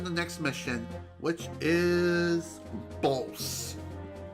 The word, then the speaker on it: Bolse: Time to head off to the next mission, which is Bolse. I think that's how you say it. I've always called it Bolse. It's B-O-L-S-E.